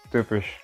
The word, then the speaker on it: typisch: Jadi TY itu dibacanya kayak ada TU gitu. Jadi typisch gitu.